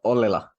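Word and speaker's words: Ollila: it's Ollela. Ollela. Yeah. It's pretty fast, the Finnish language.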